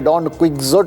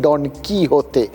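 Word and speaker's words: Don Quixote: ওই ছোটবেলায় দেখতাম সবাই একদম পুরো পরিষ্কার বঙ্গিয়ে উচ্চারণে ডন কুইকজোট অব্দি বলে ফেলতো অনেকে আর কি আসল উচ্চারণটা তো পরে জেনেছি ওই ডন কি হতে স্প্যানিশ উচ্চারণ তাকে তাকে এই ভদ্রলোককে আপনারা নিধ্রাব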